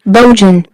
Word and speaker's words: Bojan: Bojan. And it's one of those things where, I just want you to pronounce his name correctly.